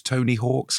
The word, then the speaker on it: Tony Hawk: Tony Hawk or Tony Hawks? It's Tony Hawk. Tony Hawk's is the Tony comedian. Hawk. Tony Hawks is the actor and comedian and writer. Mm. Tony Hawk, pro skater, is how you should pronounce it.